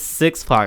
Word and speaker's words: Six Pac: Yeah, so it's Six Pac, right? Yeah. See, okay, for my homie who listens, it's Six Pac. I told you, like Tupac.